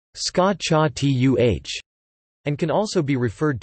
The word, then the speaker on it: scacciata: The word scacciata is pronounced scacciatuh and can also be referred to as sciacciata,